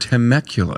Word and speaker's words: Temecula: temecula california that i've never said the word temecula is that did i say it right you